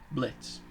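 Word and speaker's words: Blitzø: Blitz. I never mispronounced it. The O silent.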